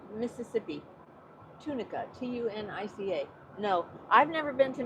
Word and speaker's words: Tunica: I is pronounced E in Spanish. But Tunica, tunic.